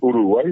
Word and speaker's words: Uruguay: El gran problema, repito, de la fonética eh tuvo una variación cuando los españoles al no poder pronunciar esa y final eh cambiaron la la fonetización de la palabra y es Uruguay.